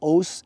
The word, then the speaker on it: OSU: uh the spirit of O and actually the word o spelled oos s u as many of you know in the U in Japanese language is silent and um so it's